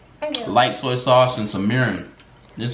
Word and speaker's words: mirin: eat that first light soy sauce and some mirin this how you pronounce it m i r n m i